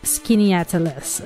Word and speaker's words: Skaneateles: with me it's kind of hard to pronounce skin atalis New York so usually I pronounce it skin but um I heard that it's pronounced skin atalis okay so it's a few miles west of